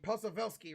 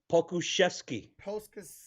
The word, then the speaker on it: Pokushevsky: Posavelsky, right? Alexei, say Alexei. Alexei Pokushevsky. Oh No, my. no, not even close. Say Poku Shevsky. Shesky. Shevsky. Poku. Pokushevsky. Anyway, God damn, I cannot say his name.